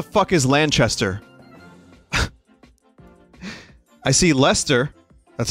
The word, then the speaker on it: Leicester: is lanchester i see lester that's how you pronounce that right it's not light it's i think it's lester it's not leicester um so now i